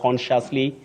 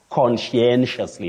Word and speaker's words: conscientiously: find themselves talking about consciously consciously so many versions but the correct pronunciation of that word is conscientiously Betty conscientiously conscientiously we hear a